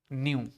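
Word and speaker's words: nu: मैंने बोला इसको रिप्रेजेंट किया जाता है न्यू से, प्रोनाउंस किया जाता है इसको प्रोनाउंस्ड एज न्यू।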